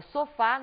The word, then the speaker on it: sofá: sofá observem aqui que na palavra sofá Nós também temos a última sílaba como a sílaba mais forte desta palavra no entanto temos